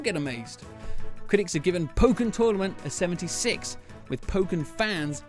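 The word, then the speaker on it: Pokkén Tournament: Pokken Tournament, or Pokken Tournament as I've been told the right way to pronounce it, came out last month with many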